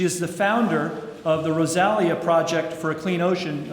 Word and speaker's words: Rosalia: She is the founder of the Rosalia Project for a Clean Ocean. I admit, Rachael, I mispronounced that to myself, thinking it was Rosalita, but I think that's because I'm a Bruce Springsteen fan.